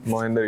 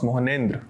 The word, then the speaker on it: Mohnendra: Good afternoon, Mohnendra. You can have a seat. Thank you, sir. So, how is it pronounced? Mohnendra.